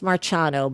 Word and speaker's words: Marciano: Well, yes, in Italian it's Marciano, but nobody says it that way. So everyone says Marciano, but technically if you're in Italy, it would be Marciano.